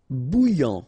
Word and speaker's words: bouillant: Bouillant, final T not pronounced. A and together, remember, nasal, en, okay? And then here you get bou, alright? And after that you get this yan, okay? Bouillant, bouillant.